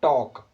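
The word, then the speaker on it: talk: तो देखो इसमें जो लिखा है ना TL के, इसको वैसे अगर हम पढ़ें तो होना चाहिए टाल्क, लेकिन हम एल नहीं बोलते ना, साइलेंट है, तो हम बोलते थे TAL के टॉक।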